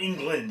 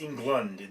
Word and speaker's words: Englund: film features Robert Englund it's not England it's England there's a you in it I'm not sure I'm